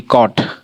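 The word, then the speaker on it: caught: तो जैसे देखिए यहां सी ए यू जी एच टी कॉट हमारा कॉट आ का आ का उच्चारण हो रहा है ना? औ कॉट। ठीक है? यहां औ का उच्चारण हो रहा है।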